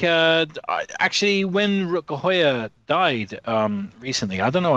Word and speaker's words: Rutger Hauer: They always say the English version. So it's the in the English version is Rutger Hauer. And in the Dutch version, it's Rutger Hauer.